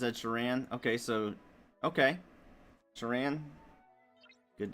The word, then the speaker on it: Sheeran: Well, see, I don't know how to pronounce Ed Sheeran's name. I guess it's Ed Sheeran.